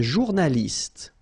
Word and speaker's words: journaliste: Un journaliste. Same thing here. You know, final only gives you the t.